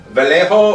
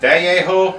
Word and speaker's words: Vallejo: vallejo i can't remember there's a double l in there and i'm pronouncing it wrong and i know that i know that j is an h it's a spanish company i think it's vallejo i could be wrong on that but i